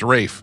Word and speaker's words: Ralph: And the other one was Ralph Fiennes. Pronounced Rafe, even though it's spelled Ralph.